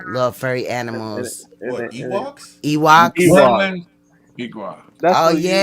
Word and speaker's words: Ewoks: like Ewoks. Damn. Same. Oh, Ewoks. Ewoks. That's how you spell it. Yeah, Ewoks. It's like Okay. E and like, you know, like a walk. Right.